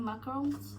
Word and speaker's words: macaron: Um so these are the six that I got um from the first collection they have which is exciting macarons. Um in French it's pronounced macaron.